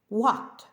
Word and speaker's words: what: слова сьогодні у буквосполученні WH на початку слова вимовляється тільки w Як без H смуга What що скільки We пшениця